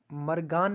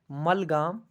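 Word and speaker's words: Malgam: Okay, and यहाँ पे मैं आपको बता दूं कि यहाँ पे एक स्पेलिंग मिस्टेक है, जो ये मरगान नहीं है, इट्स एक्चुअली मलगाम।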